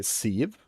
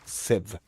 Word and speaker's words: sieve: Civ. Yeah. So, it's not Civie, it's Civ.